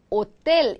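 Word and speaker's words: hotel: 잠으로 끝나면이를 붙인다 그래서 L 이거 호텔 아니고 뭐다 얘 발음 안에서 L 오텔 이렇게 읽으셔야 된다 그렇죠 오텔 복수가 되면 로스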